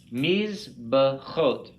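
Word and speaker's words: מזבחות: So we could break this down into syllables like this. And we would pronounce this mizbachot.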